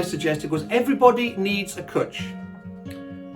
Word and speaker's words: Cwtch: The title I suggested was Everybody Needs a Cwtch. Cwtch, pronounced cwtch to rhyme with butch, is the Welsh word for a cuddle or a hug, but it's much more than that.